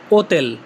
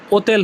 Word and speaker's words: hotel: হোটেল এর Italian হচ্ছে ওতেল। ইংলিশে হোটেল হলেও উচ্চারণটা ওতেল হবে। ওতেল।